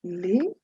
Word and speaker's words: les: feminine singular you have l e s which is pronounced lay used before masculine or